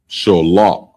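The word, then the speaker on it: שליו: But quail is shalah, and it's spelled Shallaw.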